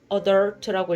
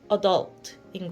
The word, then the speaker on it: adult: 그거에 대해서 이제 계속 고민한 결과 저는 adult라고 읽었고 원래 발음은 adult인 거예요.